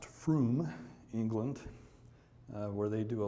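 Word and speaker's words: Frome: It's pronounced Froom, England, where they do a lot of our signature stuff, and I'll get into that in a minute.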